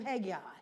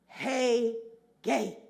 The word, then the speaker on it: Hegai: I confess I have always pronounced his name Hegai. Yet, as I listened to the correct pronunciation, it became clear. Hegai.